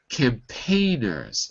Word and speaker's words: campaigners: the first one also campaigners second syllable campaigners campaigners good not campaigners that would be wrong in the first syllable okay and finally uh